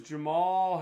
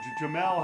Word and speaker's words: Jamel: body oh and just punctuating this round is jamal herring wow or jamelle harry i should be saying i apologize if